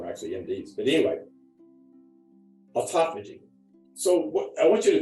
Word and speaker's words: autophagy: already talked about is autophagy instead of deeper level it's pronounced autophagy not Auto vaping like that one video